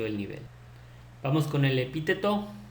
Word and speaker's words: epíteto: Vamos con el epíteto. Es así como lo pronuncié, no es epíteto, como muchos a veces se equivocan.